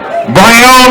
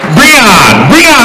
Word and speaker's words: Breon: Third place from Lehigh, Brian Rios. Did I say it right, Brian? What? Breon. I'm sorry, my bad, Breon.